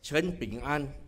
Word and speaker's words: Tan Peng Ann: attending this evenings rally my name is Stan pengen in Chinese Chen ping an but people mispronounce and say clean and so I have people calling me so I shall be